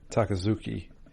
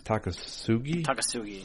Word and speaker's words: Takasugi: lovable loan shark uh takazuki is it is that how you pronounce it takazuki it's not it's not z it's takasugi yeah takasugi he's very interested in